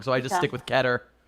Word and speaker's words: Keter: I always say it keter, like a tur at the end, which is still wrong, so I just stick with keter.